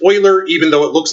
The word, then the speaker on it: Euler: boiler and it's pronounced oiler even though it looks like Euler because it's a German name and in German the EU makes the boy sound so it's perhaps Euler